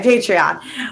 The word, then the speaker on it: Patreon: how you say it yeah patreon okay okay patreon i say words wrong all the time so